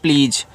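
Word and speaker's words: please: मतलब होता है मुख्य पी एल इ एस इसको पढ़ते हैं प्लीज अब देखो पी और एल आपस में सटे हैं तो पी से आपका आधा प एल से ल इ और ए बड़ी ई की मात्रा यहां पे एस के बाद देखो इ है तो एस को जा के रूप में यूज़ करना इसका उच्चारण नहीं होगा प्लीज और प्लीज का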